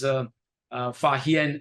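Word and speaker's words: Faxian: knowledge and people like, Fa Xian and Xuanzhuang, pronounced as Fa Hian and Huanzang in our history books.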